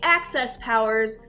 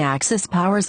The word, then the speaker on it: axis powers: i don't know why i keep pronouncing axis powers as access powers don't go around saying access powers are you will look like a big dummy like me okay that is all